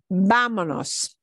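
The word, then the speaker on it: vámonos: can tell you so the way we uncomplicate that and make it easier to physically pronounce with the muscles of your mouth is to cut off the essay now we don't have the S bleeding into the n vamanos so we cut off the S that's what's happening there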